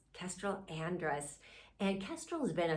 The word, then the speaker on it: Andrus: interview with a dear friend of mine Castel audris did I pronounce that right Andress Kestrel Andress and Kestrel has been a psychotherapist for over